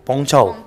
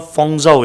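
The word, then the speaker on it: 凤爪: ya E ceker ya bacanya apa Bu pong Chau oh bukan fongzao ya berarti aku selama ini salah ya Eh ini for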